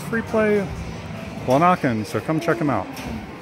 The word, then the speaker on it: Lanaken: I mispronounced it last time. I pronounced it Lanaken. It's Lanaken here on in the eastern